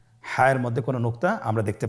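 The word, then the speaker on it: حاء: হায়ের মধ্যে কোনো নোক্তা আমরা দেখতে পাচ্ছি না। হা হরফটি কীভাবে উচ্চারিত হবে? হা হরফটি উচ্চারিত হবে কণ্ঠনালীর মধ্যখান হতে। গলা চিপে ধরে আপনি উচ্চারণ করুন।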